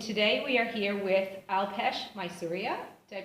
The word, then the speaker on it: Alpesh Maisuria: Alpesh Maisuria.